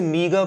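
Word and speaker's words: meagre: हो गया नेक्स्ट मीग इसे मीग पढ़ते हैं प्रोनाउंस करते हैं एम ई ए जी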